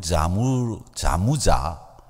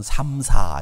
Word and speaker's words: Samsa: 이 사람이 쓴 변신이라고 하는 곳에 보면 그레고르 자무자 SAMSA인데 잠자라고 미국 사람들은 읽던데 자무자라고 하는 사람이 주인공입니다. 그 사람들은 자무자라고 읽는데 미국 사람들은 삼사 이렇게 읽어요. 그렇지 않습니다. 자무자라고 읽는 게 정확합니다.